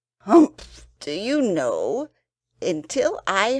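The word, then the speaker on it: humph: read the story aloud please pronounce hump exactly as it spell for that is how he said it hump do you know until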